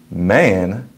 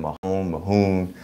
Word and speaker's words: Mahon: I've been saying Mahoon, but he said it's Man, and he told me to think about how there's McMahon, but there's no Mick.